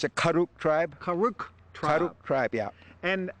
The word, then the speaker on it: Karuk: the name of this tribe I want to pronounce it correctly okay it's a kuk tribe karuk tribe kuk tribe yeah and are there hundreds